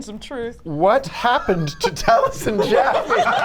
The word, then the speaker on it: Taliesin: Taliesin, although that is actually like the Taliesin. Welsh pronunciation. Taliesin.